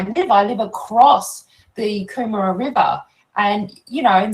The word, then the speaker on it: Kumara: Oh, am I also pronouncing this Kumara River correctly?